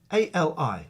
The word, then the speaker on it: Ali: But it's Ali. A-L-I is generally pronounced Ali.